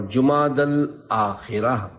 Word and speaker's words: جمادی الاخرہ: جبکہ یہاں تیسرا نہیں۔ لغت کے اعتبار سے ان دونوں مہینوں کے درست نام اور صحیح تلفظ یہ ہے، جمادی الاولی، جمادی الاخری اور جمادی الاخرہ۔ پیارے پیارے اسلامی بھائیوں،